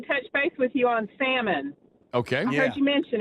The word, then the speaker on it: Salmon: Your mother's maiden name was Salmon. No, Salmon with an L.